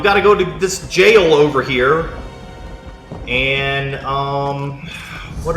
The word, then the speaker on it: gaol: and go to zeidoas's jail g-a-o-l i didn't know how to pronounce that i looked it up and apparently that's an old english spelling of jail or something so that's